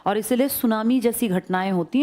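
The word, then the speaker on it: tsunami: जिसमें T silent लिखते हैं। ऐसे बोलते हैं। लिखते हैं टी सुनामी। बोलते हैं सुनामी।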